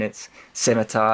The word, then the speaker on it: Scimitar: for correcting how I say scimitar so it's pronounced scimitar mount just kidding it's scimitar I just wanted to see how many people